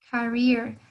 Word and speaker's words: career: Career. Acuérdense de hacerle la I un poquito más larga, ¿no? Career. Good.